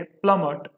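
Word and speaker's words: plummet: प्लमट, इसको प्रोनाउंसिएट करेंगे हम ऐसे, प्लमट, और इसका मतलब होता है तेजी से नीचे गिरना। क्लियर? और अब याद कैसे करेंगे इस, देखो प्लमट को कहीं ना कहीं इसकी जो प्रोनाउंसिएशन है वो प्लैनेट से मिलती है।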